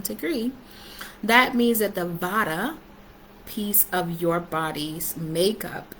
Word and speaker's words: Vata: The dosha that we are paying attention to is called Vata, and it's spelled V-A-T-A, Vata.